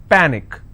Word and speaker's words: panic: so let's break this panic is per nick which means i will stress on pa and it's pronounced at panic tragic try jake i